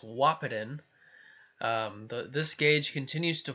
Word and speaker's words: Wahpeton: this is I now know how to actually pronounce the city it's WAP it in the this gauge continues to fall they they